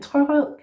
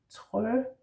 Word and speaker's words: Trørød: Trørød. Yeah? So you have trø, remember that R's in Danish are in the throat, or at least those that we do pronounce, like that.